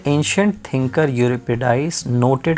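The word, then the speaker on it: Euripides: यूरिपिडाइस, इसको शायद Greek word है ये, तो इसका प्रोनाउंसिएशन है यूरिपिडाइस।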